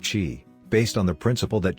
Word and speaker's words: qi: body's energy or life force also called chi pronounced qi based on the principle that chi flows through